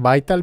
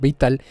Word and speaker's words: Vital: Antes de comenzar el curso debemos de conocer un poquito sobre qué es este sintetizador, que bueno, se pronuncia en inglés Vital, pero le voy a estar diciendo Vital.